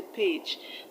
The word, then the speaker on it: page: So you do not say page, you say page. The A in page is not pronounced E. It's not pronounced E, but as A.